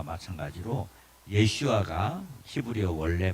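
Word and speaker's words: ישוע: 실 조 씨와 예 그 여호수아 와 마찬가지로 예 슈아가 히브리어 원래 발음입니다 예 1 씨가 자 자 그럼 그런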